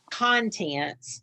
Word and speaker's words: contents: is contents, like a table of Content. contents. So it's on the first syllable.